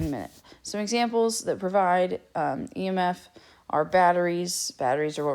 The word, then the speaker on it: emf: always pronounced it as emph but it's actually emf you say the letters emf and emf is basically